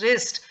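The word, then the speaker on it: wrist: यह व्यवहार आईएस टीडीएस रिस्ट यहां पर डब्लू साइलेंट एक तरफ इसको पैरिस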